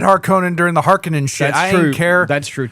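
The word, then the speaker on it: Harkonnen: Yes, we are going to say Harkon because that's how it's pronounced in this movie. I said Haronan during the Harkinan I didn't care.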